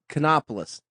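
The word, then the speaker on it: Kanopolis: even know how to pronounce the name of it. Cheney. No, it's sort of the K. Canopolis.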